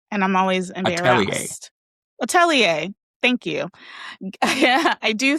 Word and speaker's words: atelier: Atelier, thank you.